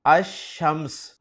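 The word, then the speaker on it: الشمس: लगा हुआ है और अल कमर में मैं अल के लाम को प्रोनाउंस कर रहा हूं, जबकि दूसरा लफ्ज है अशम्स। अब यहां भी आप गौर करें कि इस इस्म के शुरू में अल लगा हुआ है लेकिन अल के लाम को मैं प्रोनाउंस नहीं कर रहा।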